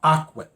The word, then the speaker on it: Ocwen: There was this company called Ocwen, OCWEN is how you spell it.